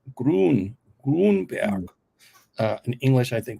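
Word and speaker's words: Gruenberg: it's in German it's hard to say it's pronounced gron grber uh in English I think we say grinberg but it's gr okay he is the head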